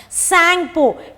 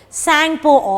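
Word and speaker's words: Tsangpo: Brahmaputra system originates from the Sangpo. T is silent here, T-S-A-N-G-P-O. Sangpo of Tibet.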